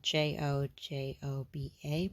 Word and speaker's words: jojoba: It is spelled Jojoba, but it's jojoba.